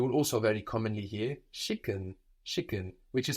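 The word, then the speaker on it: schicken: for send you will also very commonly hear shicken shicken which is spelled like chicken through vaness at the beginning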